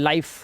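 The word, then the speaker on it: life: nice time वाइफ size अब इसे लिफ नहीं पढ़ना है लाइफ फिने नहीं गलत फाइन और लास्ट वाला इ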